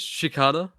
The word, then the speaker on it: Shikata: Wait, let me let me search up the pronunciation. Uh, no, no. It's Shikata.